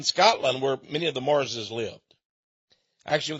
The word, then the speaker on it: Marr: There's even a town in Scotland where many of the Marses lived. Actually, they were called M-A-R-R, the Mar. But they pronounce it, the Mars.